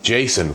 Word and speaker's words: Jasion: Now, I pronounce the company Jason. Why? Whenever I take a bike from a company, I'm not sure of the pronunciation of the name. I always ask the company rep. I said, "How do you pronounce your name?" And they said, "You can pronounce it two ways, Jason and another way."